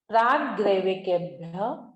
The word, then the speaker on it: प्राग्रैविकेभ्यः: प्राग्रैविकेभ्यः कल्पः, थोड़ा सा कठिन लगेगा शब्द आपको। प्राग, फिर ग्रै, वे, यकेभ्यः, 2 बिंदु आगे है तो ह का उच्चारण आएगा।